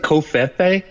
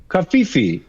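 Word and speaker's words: covfefe: You guys say it like Kofe. How do you say how do you say it? Kafifi. Kafifi.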